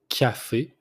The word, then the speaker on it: café: First one, the coffee, it's café, café. You pronounce the C like it's a K, so café.